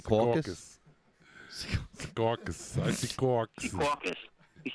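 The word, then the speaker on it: Secaucus: Sea Caucus.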